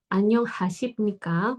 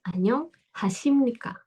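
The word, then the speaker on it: 안녕하십니까: dan berubah menjadi niem jadi bacanya bukan Hasib Nika Anyong Hasib Nika Bukan tapi Anyong Hasim Nika Anyong Hasim Nika seperti itu ninnya tetap yang hilang hanya bepnya aja B ini aja yang hilang Oke berikutnya anyongio anyongio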